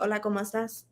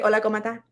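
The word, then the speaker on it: hola cómo estás: it like that but like it's supposed to be ola komastas right they say hola comata like that's what i say um and that's how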